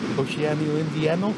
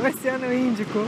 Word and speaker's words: Oceano Índico: Oceano Indiano? No! Índico, Oceano Índico.